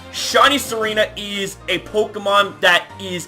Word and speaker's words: Tsareena: No pun intended, because, you know, you don't pronounce the T in the name Tsareena. But anyways, ladies and gentlemen, I just gotta say, shiny Tsareena is a Pokemon that